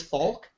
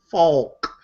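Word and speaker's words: Falk: wait his name is Faulk oh he said Faulk you sounded it out that time well I in you depends in in German because his name is Germanic you don't really pronounce the L then just don't pronounce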